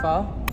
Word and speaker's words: pho: And today we are enjoying some amazing pho.